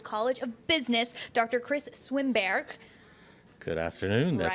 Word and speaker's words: Swimberghe: Krist Swimberghe. Good afternoon. That's Right? indeed pronounced properly.